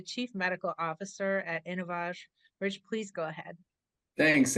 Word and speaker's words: InnovAge: feifer who's the chief medical officer officer at innovage Rich please go ahead thanks and it's pronounced innov AG because we have a very